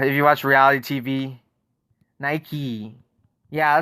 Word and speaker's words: Nike: you watch reality tv nike yeah so that's how we pronounce it i'm surprised you you guys pronounce it nike i'm surprised you guys